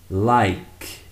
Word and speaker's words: like: We never pronounce the e sound at the end of the word. We always finish the word with the sound of the last consonant.